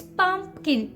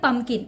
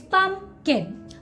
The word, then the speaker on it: pumpkin: Okay, so the 11th one is pumpkin. You have to make that p sound there, it's pumpkin. Don't call it pumpkin. Okay, it's pumpkin. Okay, pumpkin is the correct pronunciation.